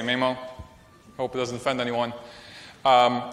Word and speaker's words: Maemo: not from Finland and I've heard people pronounce it differently me mo mo I say me mo hope it doesn't offend